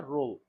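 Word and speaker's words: ρ: यह रो है। इसको जो है रो पढ़ते हैं। इसका प्रोनाउंसिएशन रो होता है।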